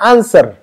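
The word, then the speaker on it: answer: third form आता है आंसर एंड आंसर्ड व साइलेंट है इसमें है ना व साइलेंट है व नहीं पढ़ना है इसमें भी व साइलेंट है आंसर कहेंगे व के आवास को नहीं निकलेंगे आंसर आंसर है ना इसको अच्छी तरह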